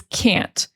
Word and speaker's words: can't: And the negative is can't. And sometimes you will hear the T and sometimes you won't. A lot of the time you won't hear the T because we do a stop T.